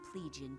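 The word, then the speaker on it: Plegian: a good look before but this is traditional pleigian dark mage garb it's functional that's how it's pronounced i don't mean to offend you it's always called a plague you always grab the spotlight and i could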